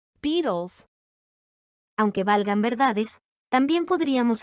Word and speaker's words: Beatles: inglés americano, sonaría así, Beatles. reemplazando el sonido de la T regular por el de la flap T, por encontrarse la T en medio de dos sonidos vocálicos.